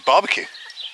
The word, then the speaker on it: barbecue: while straight into it barbecue in French is barbecue now you have to pronounce it right so I needed to